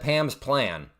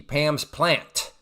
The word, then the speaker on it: Pam's plant: Yeah, I don't say it right because so many people, Candlelight, have said Pam's plan. And I'm like, okay, I'm clearly I'm not emphasizing the T. Pam's plant.